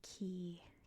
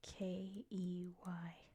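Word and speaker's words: cay: So we call them Key, K-E-Y. In the Bahamas, it's spelled C-A-Y. So it is pronounced Key.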